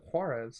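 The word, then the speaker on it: Juárez: of juarez yeah juarez i should i pronounce that with like the hard wh or just it should be ha because it's a j huh so juarez yeah yeah i'll go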